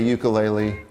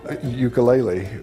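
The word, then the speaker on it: ʻukulele: Ukulele, but I know that that's not correct. The Hawaiian correct pronunciation is ukulele. Put a little apostrophe in front of the U for that sound.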